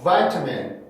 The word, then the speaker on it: vitamin: 그래서 vitamin, vitamin, vitamin 이라고 하는 사람보다는 vitamin, vitamin, vitamin, vitamin, vitamin, vitamin 이라고 발음하는 사람이 많은 겁니다.